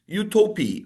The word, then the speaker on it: Utopie: I'm here with Martin to talk about a brand new record, Utopi. I I hope I'm pronouncing it correctly.